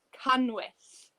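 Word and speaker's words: canwyll: doing the candle and this in welsh is can wish so we have a double l in the candle in welsh and it's pronounced yeah and a lot of people can't have sugar i can't struggle to say that that's why welsh is a bit harder but we say can wish oh my goodness don't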